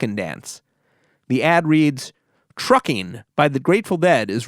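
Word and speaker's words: Truckin': dance the ad reads trucking by the grateful dead is rising from the dead's american beauty album on warner's keep on the correct pronunciation of this to soon is truckin but truckin wasn't intended to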